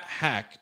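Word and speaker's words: Hauschka: hack but nonetheless matt hack or hawk i think it's pronounced hack by the way but he's a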